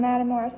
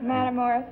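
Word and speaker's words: Matamoras: I was born in Madamorris, Pennsylvania. Where? Matamorus, Pennsylvania. Misachina, Pennsylvania. It's It's a Spell it.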